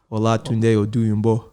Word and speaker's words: Olatunde Oduyingbo: Olatunde Oduyingbo.